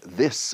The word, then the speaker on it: this: La segunda es la this. Al final de this es una S suave, clásica.